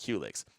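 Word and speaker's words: Qulyx: pause right there uh qlix is spelled q-u-l-y-x uh pronounced Helix I'm sorry for getting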